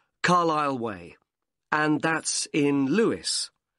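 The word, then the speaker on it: Carlisle: i s l e you don't pronounce the S Carlile way and that's in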